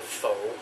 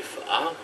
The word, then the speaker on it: phở: For those of you that might be calling it pho, it's actually pho. You have to pronounce it like that or else you're just not in the know.